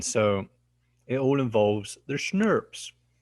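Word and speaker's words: snRNPs: It's like you pronounce it like schnapps, like German liqueur, but schnurps. That's how I'm saying you should pronounce it. I don't actually know how people pronounce it, but that's how I do it.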